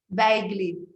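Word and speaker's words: bejgli: And how do you pronounce the name of this? Baigli.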